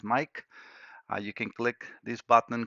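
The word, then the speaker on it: Maic: All right, so for those that needs to send computers, just look for Mike Diagnostics, and that's how my name is spelled, M-A-I-C, sounds as Mike.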